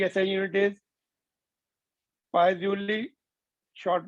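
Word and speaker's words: Poiseuille: तो ये यूनिट लिखिए या पाई जूल लिखिए, इसमें l वैसे साइलेंट होता है, पाई जूल बोलते हैं उसको, बट वी can call it pi joule.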